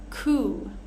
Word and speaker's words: coup: Next, with silent P's, we have quite a few words here. We have words like corps, as in the Marine Corps, the Peace Corps. Coup, pneumonia, psychology, receipt, right?